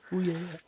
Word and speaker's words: Ouya: Speaking of a bit of a side step, I want to move on to the Ouya. I think that's how you pronounce it. Ouya.